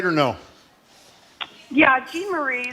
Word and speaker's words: Jean-Marie: Am I pronouncing it right or no? Yeah, Jean-Marie. Jean-Marie, I'm sorry.